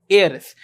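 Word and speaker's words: heiress: एयर और female को एयरस remember इसमें एच साइलेंट होगा उसको एयर की तरह पढ़ेंगे ठीक अब देखो यहां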